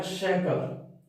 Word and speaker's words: soccer: अगर अपने प्रोनाउंसिएशन के हिसाब से, रूल के हिसाब से पढ़ें तो इस SO को क्या पढ़ेंगे, सो पढ़ेंगे। वापिस सी के बाद सी है, व्यंजन है, तो इसको क्या पढ़ेंगे, क्या पढ़ेंगे। फिर इसको क्या पढ़ेंगे, से पढ़ेंगे। तो लेकिन इसका उच्चारण ये होता नहीं है, ये अपवाद है, इसलिए इसका उच्चारण होता है क्या है, इसका उच्चारण होता है शेकर।